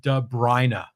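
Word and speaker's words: De Bruyne: here and he says for Kevin De Brina he says pronounce de brri so you got to get that right he's talking about the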